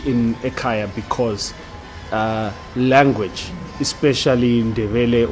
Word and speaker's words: Ekaya: Yeah, and so guys, it's Ekaya without the H. Yes. Oh, so to explain that, so I get a lot of backlash on this. We did not put the H in Ekaya because language, especially in